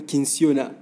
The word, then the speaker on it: Kinsiona: bonjour à notre invité monsieur clofi bonjour madame kinsiona voilà je l'ai bien prononcé oui vous vous avez bien prononcé merci